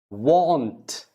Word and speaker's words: want: Want, want.